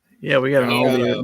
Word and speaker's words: Aldi: Aldi's. Aldi. See, I was pronouncing Aldi, the yeah.